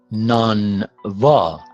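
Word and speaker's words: نانوا: And then v occurs at the second syllable, at the beginning of the second syllable, and that is pronounced b sound, not u. Okay?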